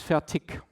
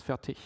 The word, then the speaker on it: Fertig: Because from the part in Germany where I'm coming from, I say it's Fertig, with more or less a K at the end, while in proper German it's Fertig.